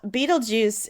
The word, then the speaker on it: Betelgeuse: So, Beetlejuice, it's spelled Betelgeuse. So not it like has nothing to do with the movie.